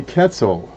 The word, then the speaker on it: Quetzal: It is a Quetzal. I think it rhymes with pretzel.